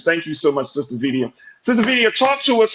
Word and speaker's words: Vidia: And it's Vidia rhymes with Oh, media.